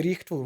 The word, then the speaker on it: rightful: Не rightful, rightful. Да, уже который раз мы обращаем внимание на то, что GH в серединке не читается rightful, light, bright, fight, night, их там миллион слов такие.